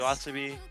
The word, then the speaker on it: YOASOBI: to jam to some Yoasobi, I believe is how you pronounce it, or Yes. Yoasobi.